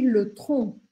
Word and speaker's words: le tronc: O tronco a gente chama de le tronc. A gente não pronuncia esse C no final.